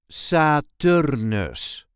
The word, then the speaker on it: Saturnus: This is the way we say Saturnus. Saturnus. There is a light emphasis on the second syllable, Saturnus.